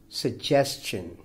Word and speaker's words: suggestion: first one is suggestion suggestion the stress falls on the second syllable and it is a four-syllable word second capable capable the